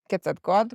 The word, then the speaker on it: Quetzalcoatl: And the kids cannot pronounce the TL. It's a weird pronunciation, right? It's kind of Yeah. like a silent one.